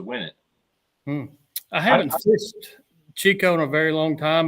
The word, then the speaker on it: Chicot: How do you pronounce that? Chico? Chico?